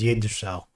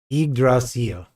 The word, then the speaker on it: Yggdrasil: So the Y in Yggdrasil is pronounced like an I.